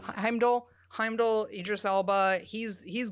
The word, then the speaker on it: Heimdall: finds out that Heimdall is that how you pronounce his name yeah Heimdall Heimdall Heimdall Idis Elba he's he's gone and Odin